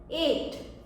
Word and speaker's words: ate: एंड में तो वो क्या बन जाता है, एट, ATE, एट, जो कि ईट का पास्ट टेंस है।